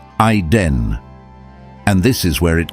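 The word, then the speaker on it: עֵדֶן: In Hebrew, it's written as ayin dalet nun, pronounced ayden.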